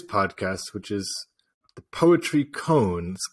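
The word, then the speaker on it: koan: which is the Poetry cones cone k-o-a-n Mark uh insists on a different pronunciation so which uh is the Japanese and American pronunciation but it's a great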